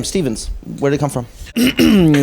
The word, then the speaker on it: Stevans: "Hey, Stevens," but finally the real way to pronounce it is Stevans, Stevans. If you don't say the Stevens, like they say in French on the radio, okay, on accueille the Stevens, nope. Wrong again.